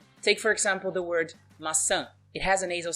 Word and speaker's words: maçã: As you can see, it has a mark, it has the tio. So we're going to pronounce with the nasal sound. Let's take a look. Maçã. Maçã. So that's the sound we need.